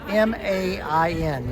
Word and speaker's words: Main: Now, Frankfurt's situated on the river, and it is, we spell it M-A-I-N, Maine, but it's pronounced Main, the Main River, and